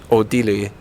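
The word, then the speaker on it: 奥地利: Odili.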